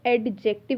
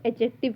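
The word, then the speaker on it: adjective: इसको एडजेक्टिव नहीं पढ़ना है, इसको एडजेक्टिव पढ़ना है, डी इसमें साइलेंट है।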